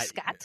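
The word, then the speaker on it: Skjodt: Simon Scott I believe Scott I I am not sure skj o DT so the so the J is silent we're we're assuming silent J sure I'm going to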